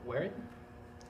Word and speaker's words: Warren: Vanessa Warren, is how you pronounce her last name.